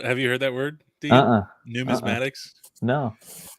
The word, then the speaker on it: numismatics: mean we want to start talking about um numismatics thank you for correcting my pronunciation to that uh coins uh sports cards